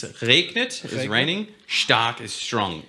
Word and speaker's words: stark: pronounce stark right?